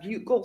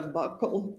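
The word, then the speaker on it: buccal: So, a bugle swab or a buckle swab depending on different people say it different ways. It's spelled B U C C A L and that is a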